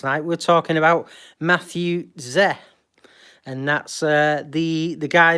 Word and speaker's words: Tse: Matthew Z it's and the surname is pronounced Z what is TSE so yeah young undergraduate